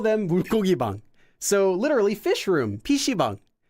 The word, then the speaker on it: 물고기: Notice that it's spelled as 물고기, but it's pronounced as 고기 with a double 기역. So 물고기.